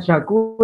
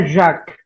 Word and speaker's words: Jacques: Nanti lain kali bacanya jangan Jacques ya. Jacques itu campuran bubur ayam gitu ya, Jacques. Bacanya Jacques.